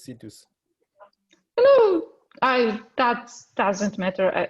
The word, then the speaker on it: Citus: uh scitus uh alicia my pronunciation titus right oh it's situs hello i that doesn't